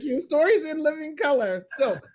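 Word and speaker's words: SILC: stories In Living Color silk not slick silk I always say it wrong stories In Living Color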